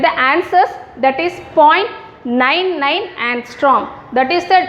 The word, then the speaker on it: angstrom: இது எப்படி pronounce பண்ணனும்னா angstrom.